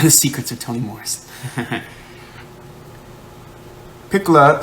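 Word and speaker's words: Pecola: Piccola sounds like piccola in Italian, which means little.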